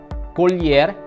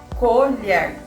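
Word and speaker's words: colher: examples are paper lh lh in portuguese sounds like the word million so it's all you it's not all of them colyer it's not colgar letter m letter m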